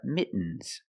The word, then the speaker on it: mittens: weak as a kitten other examples these are mittens mittens more commonly mittens mittens they're not gloves